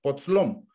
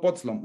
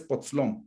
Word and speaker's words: Potzlom: los pueblos originarios, y el título realmente es Potzlom, no Potzlom, es Potzlom. En las lenguas mayas siempre, bueno, en tzotzil se acentúa la penúltima sílaba, ¿no?